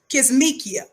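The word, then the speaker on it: Kizzmekia: in the first place her real name is pronounced kismekia k-i-z-z-m-e-k-i-a corbett right it says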